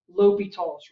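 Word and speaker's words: L'Hôpital: previous techniques and that one rule is called l'hopital's rule now just based on the different spellings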